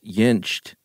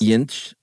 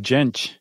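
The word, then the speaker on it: Jentsch: name should be pronounced yinch it's good stuff I think I put a t on the end but the t's in the middle yinch yeah I think that's right I've been saying jench well we'll have to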